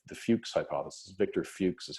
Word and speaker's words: Fuchs: big one was called the Fuchs hypothesis Viktor Fuchs is how you pronounce that name a few c fu CH